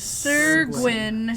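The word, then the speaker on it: Syr Gwyn: That is Sir Gwyn.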